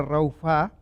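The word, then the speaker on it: רפה: Y esta palabra que se pronuncia raufá se define en muchas aplicaciones, tanto figurativas como interpretativas, como reducir, cesar, consumir o fallar.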